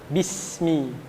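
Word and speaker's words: بسم: Kasroh, harokat kasroh itu akan sempurna, dibaca secara sempurna apabila dibacanya dengan tersenyum. Bismi, bismi, bismi, ya.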